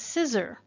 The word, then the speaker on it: CISR: As an acronym, that's CISR, and we pronounce that as CISR, just like those things that we cut paper with.